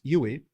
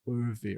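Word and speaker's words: Euwe: champion of the 30s, Max Huey, which I'm told from some video that that's actually how you pronounced it. I always pronounced it Urvi or Oivi or something. Anyway, Jan Donner was characteristic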